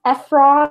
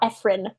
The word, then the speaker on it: Efron: say is Efrain well it's pronounced a frog not Efrain so that's why Zefram